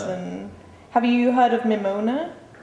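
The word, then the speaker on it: Mimouna: And have you heard of Mimona? Maybe I'm pronouncing it wrong. It's Mamonia.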